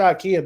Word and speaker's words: Ikea: Ikea I went to Ikea because it Rhymes in my name it's like Ike with an A but it's one of